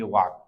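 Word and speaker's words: walk: जैसे कुछ बच्चे होते हैं एकदम चुप एल का आवाज नहीं आता है तो इसको बोलेंगे वाक।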